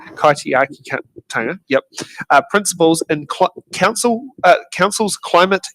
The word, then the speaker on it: Kaitiakitanga: How will you embrace kaitikaitanga? Apologies if I pronounce that wrong. Principles. Kaitiakitanga. Kaitiakitanga.